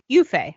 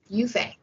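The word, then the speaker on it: Yue Fei: How to pronounce. I love this website. Yufei. Okay. Yufei.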